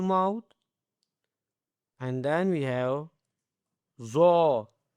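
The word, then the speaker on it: ظ: And then we have Zo. okay, a bold word with the full mouth, okay.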